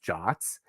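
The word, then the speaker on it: JWT: it's in the specification it's called if it's pronounced jots and Json web tokens have like intrinsic structure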